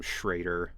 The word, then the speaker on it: Schrader: I would say like like that being kind of like the midpoint between an e and an a, you know, that like e sound. Uh I think a lot of Americans would not be able to do that which is why it just became shraider because it's like easier.